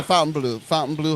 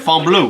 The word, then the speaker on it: Fontainebleau: You gotta say it, Fontainebleau. Fontainebleau. Fontainebleau. Well, it's because it's French. This is Miami Beach. We say Fontainebleau. The name changes the closer you get to France, the more it sounds like French.